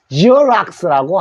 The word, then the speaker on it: Xerox: 그래서 제록스라고 하는데, 요 영어 발음은 G 소리에서 락스. 지오락스라고 합니다. 지오락스. 이게 제록스예요. 요때 X가 G 소리 납니다.